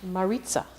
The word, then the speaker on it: Maritza: So, but I just want to mention that, how do you pronounce her name? Maritza.